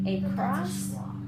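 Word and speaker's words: across: first a says a but did we say a cross it's a schwa so you're gonna say a is that schwa wha because remember a at the beginning is often a schwa okay next one okay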